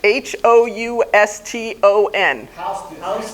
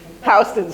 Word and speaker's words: Houston: Street to the north and how do you pronounce h o u s t o n thank you not Houston Housing Street little Judy's friends all lived either in